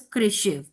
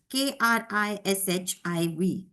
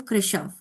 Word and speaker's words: Krishiv: My son's name is Krishiv, Krishiv, but usually people call him Krishav, which personally I do not like.